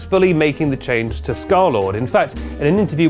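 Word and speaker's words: Scarlxrd: In August 2016, he released his first music video, Girlfriend, under his new name, Scarlord, which is pronounced like that, but spelled like this.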